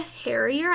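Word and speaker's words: Harrier: say again oh yeah Laura hairier is how you pronounce her last name well she's in black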